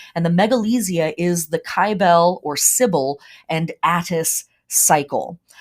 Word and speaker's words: Kybele: syil a lot of people pronounce her name cibil I pronounce her kyel because her name is also related to names